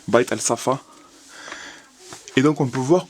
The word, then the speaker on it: Bait Al Safah: C'est le musée de, je vais essayer de bien le prononcer, Bait Al Safa.